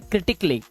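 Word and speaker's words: critically: इसे आप पढ़ते हैं क्रिटिकली। क्या पढ़ते हैं? क्रिटिकली। इसको आप आधा क और ला माने क्ली। इस तरह से क्ली।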